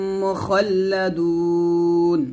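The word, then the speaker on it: مخلدون: এরকম ইয়াতুফু আলাইহিম উইলদানুম মুখাল্লাদুন মুখাল্লা খ মোটা করে মুখাল্লা বলবেন না খল বলবেন মুখাল্লাদুন এভাবে আবার ইয়াতুফু আলাইহিম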